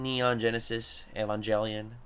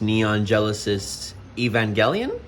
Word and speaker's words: Neon Genesis Evangelion: and Shin Godzilla, and also the little anime Neon Genesis Evangelion. Is that how I pronounce it? I hope so. Actually, Este, it's pronounced Neon Genesis Evangelion?